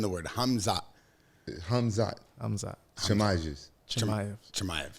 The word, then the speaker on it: Chimaev: Chimaev.